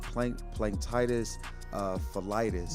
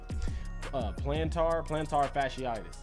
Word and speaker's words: plantar fasciitis: do you call it, plantitis pholitis. Yeah. I think it's plantar fasciitis.